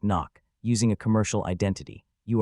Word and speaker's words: NOC: You enter the country under a non-official cover, NOC pronounced knock, using a commercial identity.